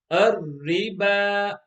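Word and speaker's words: الربا: And at the end, the last two letters, waw and alif, they are silent because they also do not have a haraka. So how will this word be read? Ar-riba, ar-riba.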